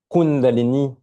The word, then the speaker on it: Kundalini: Kundalini, Kundalini. Donc j'ai un I long à la fin, un I avec accent, si j'avais deux I, mais l'accent tonique est sur le kun.